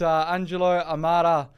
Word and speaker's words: Angelo Amara: I've got Angelo Amara, the Managing Partner of JLL.